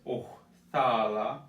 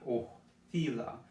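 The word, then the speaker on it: othala: So there's two variations of this. There's Ohthala and Ohthila. The O is coming from like in the back of your throat. It's a deep O. Ohthala. Ohthila.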